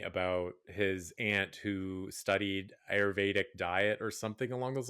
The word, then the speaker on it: Ayurvedic: And sidebar, I just want to say the fact that you mentioned Ayurvedic. How do you say it? Ayurvedic?